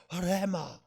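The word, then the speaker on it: ῥῆμα: 레마의 말씀 하지 말고 원래는 레자가 발음이 흐자, 히읗 발음이 섞여 들어가는 레마요. 그러니까 레마 이렇게 발음하면 더 정확한 헬라 말씀이니까 레마의 말씀으로 왔습니다 하지 말고 레마의 말씀으로 왔습니다.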